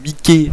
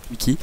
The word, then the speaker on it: Mikee: Normalement c'est Mickey si vous voulez en français, mais bon, j'imagine que ça va se prononcer à l'anglaise, donc Mickey.